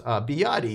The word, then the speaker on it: BYD: And the answer was, I didn't even know how to pronounce this. BYD is actually the right way to pronounce it.